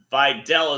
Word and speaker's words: Vidal: Vidal is the way they're pronouncing it.